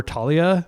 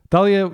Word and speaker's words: Thalia: And it is pronounced Thalia. For a long time, I called her Talia because that's like a common name.